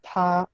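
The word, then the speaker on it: 她: Los tres se pronuncian igual, pero cuando se escriben, difieren. El primero, este que está aquí, es ta para hombre. El segundo, este que está acá, es ta para mujer.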